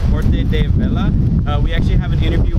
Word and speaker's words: Huerta del Valle: my position at Huerta del Valle is as an urban farmer.